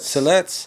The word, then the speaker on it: Siletz: Well, I know, just had a quick memory that I seen something recently about Siletz, is that how you say it? Siletz. Siletz. Mm-hmm. Siletz is, they won some land back.